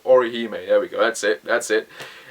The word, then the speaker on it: Orihime: Chad and Orohime are there, or Hami, or Inu, I can't even pronounce their names. Bloody hell, I'm watching the anime and I still can't pronounce their name. Orihime, there we go, Orihime, there we go, that's it.